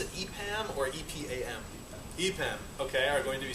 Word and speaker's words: EPAM: And after that, two fine fellows from, do you pronounce it EPAM or EPAM? EPAM, okay, are going to be speaking about some